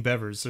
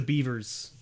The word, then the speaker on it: Bevers: And that's how I tell people to pronounce my name, is if you think of the word beverage, right? That's how Bevers sounds, right? It's because a lot of people go with the Beavers, right?